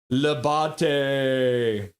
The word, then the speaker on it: Labate: It's pronounced Labate. Labate.